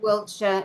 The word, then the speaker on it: Wiltshire: It's in uh East Null Wiltshire and is that correct? Probably not. Wiltshire.